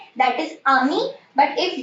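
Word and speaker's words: amie: ए एम आई आमी, अगर friend girl है तो ए एम आई ई, बट आप इसको भी प्रोनाउंस करेंगे आमी।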